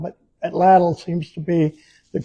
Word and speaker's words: atlatl: the um uh from what I heard the correct pronunciation is the emphasis on the second syllable. I I always call it atal, but atal seems to be the correct way to say it.